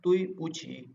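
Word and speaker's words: 对不起: आगे है दुई पूछी ठीक है तुई पूछी तुई पूछी तुई पूछी तुई पूछी ठीक है तो डी को ये थोड़ी सी ते वाली जो है ना ते से प्रोनाउंसिएट करते हैं तुई तुई पूछी ओके।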